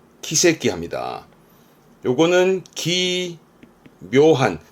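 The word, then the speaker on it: 奇跡: 그래서 기적, 발음은 키세끼 합니다.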